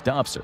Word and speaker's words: DOPSR: that he spoke outside of his DOPSR ,” DOPSR being the Defense